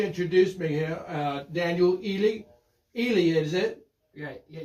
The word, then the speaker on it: Heley: Uh, Daniel Elely. Elely is it. Yeah. Yeah. Yeah. The H the H is silent.